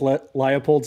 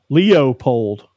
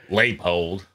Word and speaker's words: Leopold: a red every time Leo polled it ain't Leopold laypold who's this Leopold guy